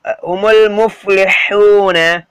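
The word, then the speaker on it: هُمُ الْمُفْلِحُونَ: ஹுமுல் full ஹுமுல் முஃப்லிஹூன ஹுமுல் அதாவது அலிஃப் silent லாம் ப்ரொனவுன்ஸ் பண்ணும் ஓகேங்களா.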